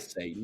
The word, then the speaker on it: S8N: aka at S8N, which would pronounce that Right. Satan.